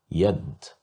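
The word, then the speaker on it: يد: Here we have yad, yad, yad, which means a hand. Here we have the letter ya controlled by the fatha, so that's why we pronounced it as ya, yad.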